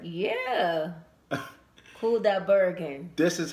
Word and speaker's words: Kudaibergen: I hope I pronounced his name right. Yeah. Kudaibergen.